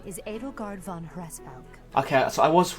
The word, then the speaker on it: Hresvelg: My name is Edelgard von Hresvelg. Okay, so I was right. I had no idea how to pronounce the Reskvel because you never said it before, so I was actually correct.